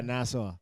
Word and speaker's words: Nassau: Yeah, Is that how you pronounce it? Yeah, Nassau.